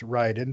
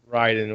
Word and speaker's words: Raiden: naked for the first half of it it's pronounced ryden by the way ryden whatever uh was actually phantom pain um and